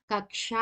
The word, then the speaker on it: कक्षा: 10 में पढ़ रहे कच्छा नहीं होता कक्षा होता है ठीक है प्रोनाउंस गलत करते हैं लिखते भी गलत तो